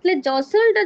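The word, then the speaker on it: jostle: ঠেলাঠেলি চলছে জস হচ্ছে জসলটা যখন আমি উচ্চারণ করছি এখানে আমি কিসের উচ্চারণ করছি না টি এর উচ্চারণটা কিন্তু করছি না অর্থাৎটি হচ্ছে এখানে সাইলেন্ট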